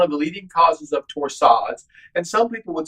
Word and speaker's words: torsades: if we haven't diagnosed specifically torsades or torsades that is properly pronounced magnesium one to two